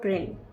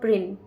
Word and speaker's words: Prynne: Her name rhymes with sin. She is. Hester Prynne, Pearl, both are correct या फिर both are wrong? और इस question का correct answer है option number A, Hester प्रिन।